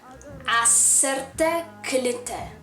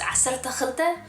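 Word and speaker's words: ዓሰርተ ክልተ: Acerte klite. Acerte klite. Acerte khlte. So it's more like kh, not k, but it might be easier to say k. So it's acerte khlte or acerte klite.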